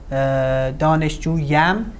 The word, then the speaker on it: دانشجویم: The ye is euphonic because we have a long vowel here and a short vowel here. Two vowels together is hard to pronounce. We use a ye to intervene and make the pronunciation easier.